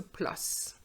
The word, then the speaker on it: plus: available for the concert now be careful with this one i did say that when we compare actions we use the s the pronunciation of the s but it's not the case when we are comparing adjectives for example elephant more